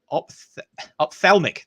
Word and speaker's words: ophthalmic: much of the um ophthalmolog how do you pronounce that ophthalm ophthalmic there we go yeah i'm used to saying